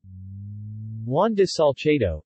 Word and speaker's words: Juan de Salcedo: Juan de Salcedo, Spanish pronunciation, XWAN de Sal Theta Eo, 1549 March 11, 1576, was a Spanish conquistador.